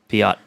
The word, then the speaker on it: Piot: So I don't know how to pronounce this guy's last name. Piot. Piot. Pio. It's Pio. that's I thought it was French. Pio. Pio. I assume it's Pio.